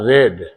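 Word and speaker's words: read: यू रेड spelling तीनों में एक ही रहता है लेकिन पढ़ा जाता है रेड तुम एक किताब पढ़े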